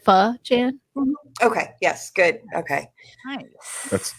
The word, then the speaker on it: Pho Chan: thought wait yeah i think so you said pha chan okay yes good okay that's totally not what